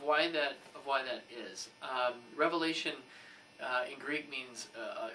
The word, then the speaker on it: Revelation: with the book of revelation that is how you say it not revelations oh if you learn anything from us it's questionable um please say revelation and not revelations it's one revelation and i'll say a